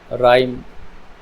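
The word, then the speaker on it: rhyme: गई एच से पहले अगर आर है ठीक जैसे य पर आया रिदम राइम राइजोम यहां पर भी एच की जो साउंड है व सेलेंट हो एच के पहले अगर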